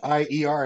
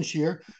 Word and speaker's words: Shier: Shier. I like how you have the pronunciation in the bio, so no one goes Yeah. here or Well, yeah, Shier.